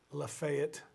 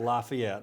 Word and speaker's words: Lafayette: hendersonville in macon county the town is pronounced lafayette right not lafayette we're not in was it france louisiana or france um